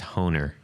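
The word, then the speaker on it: Hohner: I believe it's pronounced Honer.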